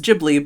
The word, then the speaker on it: Ghibli: That's what I Like I grew up calling it Giblly, but it's Gibli, but it's a Japanese version of a Italian word, but it's also pronounced and spelled wrong, but we're like saying it with English mouths, and it's like, no, everything's wrong.